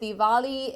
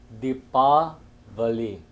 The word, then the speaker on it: Deepavali: really want to know what is the correct pronunciation as well as the correct word. Jai Shri Sitaram. First of all, Shastras declare that proper word is called as Deepavali.